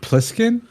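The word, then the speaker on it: Plissken: saying it right let's make putkin is it pliskin yeah p-l-i-s-s-k-n Wallace BlizzCon anyways carry on carry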